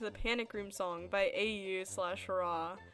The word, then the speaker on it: Au/Ra: Anyways, it was originally an animation made in 2018 to the Panic Room song by AU/Ra. It is pronounced Aura, and it's now lost media because I deleted it like 10 million years ago.